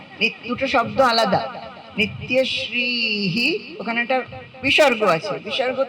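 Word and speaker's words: নিত্যশ্রীঃ: মঙ্গলখন দুটো একসঙ্গে বলছি না দুটো শব্দ আলাদা নিত্যশ্রীহি ওখানে একটা বিসর্গ আছে বিসর্গ সংস্কৃত উচ্চারণ হয় বলতে হয় নিত্যশ্রীহি পরের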